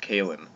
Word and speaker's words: Coalan: you're good to go alright I'm here with Cailin Robertson do not mess that up he is always sure to make it known that it's pronounced Cailin he's an ex rebel media contributor and now